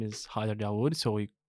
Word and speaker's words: Hayder Dawood: the company cool uh so my name is Hyer daood so we pronounce it well U thank you and I